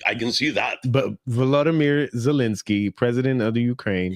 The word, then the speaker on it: Volodymyr: It's Volodymyr. It's Vladimir. Volodymyr. Is that right? It's not Vladimir. Mark, it's Volodymyr.